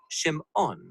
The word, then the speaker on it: Shimon: a son and she names him Simon or in Hebrew shim ohn because she says the